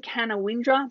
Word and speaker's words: Canowindra: Well, Gulgong's pretty cool too, but Canowindra has the best main street for sure. So this is the name of the town. It's written Canowindra, but you pronounce it Canowindra.